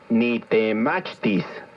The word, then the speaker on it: Nitemachtis: Nitemachtis. Recuerda que en el náhuatl las palabras se acentúan en la penúltima sílaba.